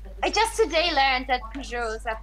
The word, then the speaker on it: Peugeot: I just today learned that Peugeots are pronounced Peugeot, so I'm still in shock.